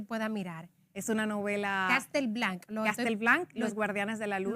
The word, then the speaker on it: Castel Blanc: mirar es una novela Castel Blanca Los Guardianes de la luz lo estoy pronunciando bien así es castelblan Los guardianes a hacer